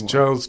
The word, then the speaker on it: Charles: You've got it spelled right, but you haven't actually pronounced it right. Gosh, it's Charles Tyrwhitt.